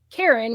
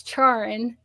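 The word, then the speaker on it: Charon: the Greek mythology with the river sticks and Karen which a lot of people pronounce charin um c h a r o n unfortunately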